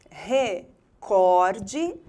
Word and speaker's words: recorde: lugar na palavra 'análise' agora rubricá recorde o dico gratuito origens de difícil elétron e tórax caqui e órfão todas as palavras agora apresentam a sílaba forte na penúltima posição quando isso acontece dizemos